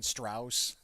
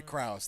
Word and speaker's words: Krauss: upay s style of music like yeah Allison Strauss is that an Allison Krauss reference sorry Krauss thank you okay I butchered it my bad no it's okay I'm